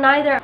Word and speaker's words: neither: So, when you say either and either, neither and neither, both pronunciations are accepted.